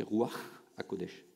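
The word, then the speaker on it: Ruach HaKodesh: Bonne prononciation, c'est roi HaKodesh.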